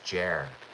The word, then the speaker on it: Ger: Is it pronounced jer or jer? It's jer.